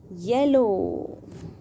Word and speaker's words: yellow: Next color name is yellow. Now let's spell it. Y, e, l, l, yell. Y, e, l, l, yell. Yell. O, W, O. Here letters O, W make O sound.